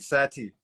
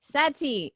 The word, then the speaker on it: Sati: are you I'm good how do you say your name you said it right Sati Sati okay awesome where are